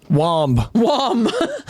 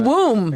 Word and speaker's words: womb: we're learning w m b how is that pronounced wom wom no that's pronounced womb but it's but it it but it's the